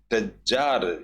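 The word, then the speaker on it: Tsar: जार, इसमें T silent रहता है दोस्तों, इसको सिर्फ जार ही बोला जाता है।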